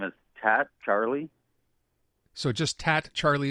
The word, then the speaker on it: Tatt: Can you please pronounce, can I just call you Tatt, but could you pronounce your first name for me? Yeah, my name is Tatt Charlie.